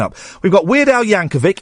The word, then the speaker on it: Yankovic: We've got Weird Al Yankovic. It's a hard C at the end.